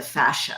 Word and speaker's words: fascia: talking about the fascia, I don't know if I'm pronouncing that correctly, or Yeah, that's correct. Yeah.